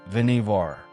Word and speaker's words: Vannevar: The surname pronounced Veneivvar honored a maternal uncle.